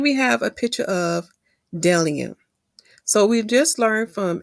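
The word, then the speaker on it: bdellium: I looked it up my brothers s sisters delium that's how it's pronounced delium because my tongue is terrible when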